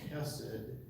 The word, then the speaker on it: chesed: And the word chesed, a lot of people pronounce it hesed, but it's actually chesed.